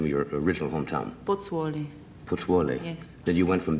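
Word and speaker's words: Pozzuoli: during the war and you how do you pronounce the name of your original hometown botsworli yes then you went from there to naples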